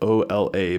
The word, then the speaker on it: Ola: but in Arkansas, there is a town of Ola. That it's spelled O L A, but it's pronounced Ola.